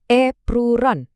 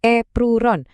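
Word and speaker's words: エプロン: Epron. Bacanya gampang kok. Epron. Kedengaran mirip epron kan?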